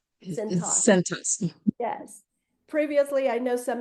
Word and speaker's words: Cintas: Am I pronouncing that right, Beverly? It's Cintas. Cintas.